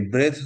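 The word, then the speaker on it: breath: এই ব্রেথ হচ্ছে ই বাদ দিলে, ব্রেথ হচ্ছে নিঃশ্বাস নাউন, আর লাস্টে একটা ই দিলে সেটা উচ্চারণ হয়ে যায় ব্রিদ, মানে হয়ে যায় নিঃশ্বাস নেওয়া, ভার্ব হয়ে যায় নাউন থেকে ভার্ব।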